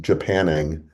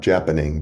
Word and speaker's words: Japanning: I had never heard the term, uh, I think it's pronounced Japanning, not Japaning, but Japanning, as a technique.